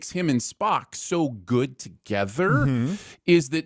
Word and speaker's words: Spock: Have that smarmy spark to them that this character just doesn't have. The character name is pronounced Spock, not Spark.